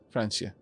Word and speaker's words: Francia: You would use the S sound for the C. So a soft C from Julia as a French speaker. Okay. Francia.